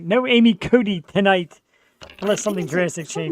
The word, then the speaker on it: Cote: it right no Amy Cody tonight unless something drastic change my name it's like Katie like you say it like a d but it's a t or at least that's how we pronounce it but here's what I'm